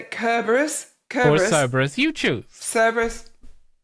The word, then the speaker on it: Cerberus: Cerberus is how we pronounce it in the UK. Cerberus is more Greek.